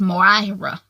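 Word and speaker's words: Moira: her friend's name is Myra Murat Myra Myra if spell mo IRA in the books I wasn't quite sure how to pronounce it I think they just pronounce it Myra Myra I don't know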